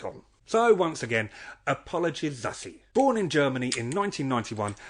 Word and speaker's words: Zazie: It is a tough one, as her name actually derived from the mispronunciation of a name taken from the French film Zazie dans le métro, which her father watched dubbed in German, and took that pronunciation of it and ran with it.